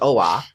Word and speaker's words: Oa: How you get two syllables out of two letters, I don't know, but it's OA.